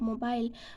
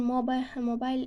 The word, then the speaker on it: mobile: British English speaker usually pronounce the ending ile of mobile with the long I, while American pronounce run closer to the ol sound, so like in careful ol sound.